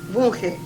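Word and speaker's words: Vunge: ¿Cómo se pronuncia? Bunge.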